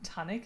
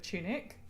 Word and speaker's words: tunic: Like the time that that Ben accidentally to his D and D group pronounced it um tonic instead of tunic.